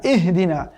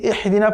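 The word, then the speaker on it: اهدنا: এখানে ইহদিনা, ইহদিনা অনেকেই পড়ে দেখবেন যে ইহদিনা, এটি তো স্পষ্ট ভুল একদম। ইহদিনা আপনারা ইতিমধ্যে বুঝতেই পারছেন, ইহদিনা পড়লে এখানে হা চেঞ্জ হয়ে যাচ্ছে, মূলত এখানে রয়েছে হা। যদি ইহদিনা পড়ে সেখানে সফট হা চলে আসছে, যেটি স্পষ্ট মাখরিজের লঙ্ঘন, সেটি কখনোই পড়া যাবে না। কেমন পড়তে হবে? ইহদিনা, ইহদিনা, ইহদিনা।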